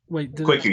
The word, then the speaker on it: Kwaku: So Kwaku, Kwaku, yeah, it's right. Kwaku, yeah.